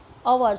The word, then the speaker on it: hour: So here the H is silent. That's where we are pronounce hour.